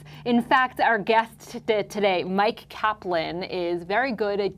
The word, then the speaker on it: Myq: In fact, our guest today, Mike Kaplan, is very good at giving us reasons to do so. And by the way, that's Mike, M-Y-Q, Mike.